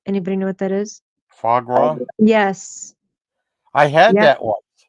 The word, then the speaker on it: foie gras: I don't know how to say foie gras.